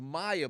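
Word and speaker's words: Myee: It was like, it was Maya, but it was spelled very, very, very bizarrely.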